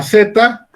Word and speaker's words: zeta: forma de un ganchito se llama zeta y tiene el sonido del ave y la s es decir como si pronunciáramos la letra d y la letra s al mismo tiempo su transcripción latina es